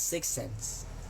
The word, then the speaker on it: 6ENSE: lang ako sa tiktok how to pronounce six sens it's it's pronounce as six cense she's challenge mo ako